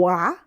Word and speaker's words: は: E a partícula sempre foi pronunciado Wa. E essa partícula passou tal e qual era na língua clássica para a língua moderna. Então a partícula escreve-se Ra, mas mantém a pronúncia dela no original, que era Wa.